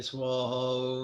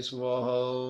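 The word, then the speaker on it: svaha: Om da de do da de do re swaha. Some people have difficulty pronouncing the triple consonant S, V, W. Think about grandma putting on her lipstick and going mwah. Similar sound, but less mess.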